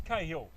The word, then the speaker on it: Cahill: And he forwarded through me an excerpt of a text he had with Andrew Cahill, and they pronounce it Cahill, as in Tim Cahill, the former Australian football player.